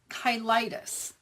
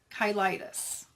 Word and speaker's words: cheilitis: finally found out what it's called, and it's pronounced angular kyitis. You're going to find all kinds of people on YouTube who are mispronouncing this name. So, let me show you how I learn how to pronounce kyitis.